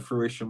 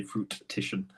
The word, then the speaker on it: fruition: like things that will come to fruition one that's the right way to say yeah I always just say you usually say fruit petition uh but um yeah